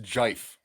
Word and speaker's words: GIF: in the wind, and I believe it's pronounced jife.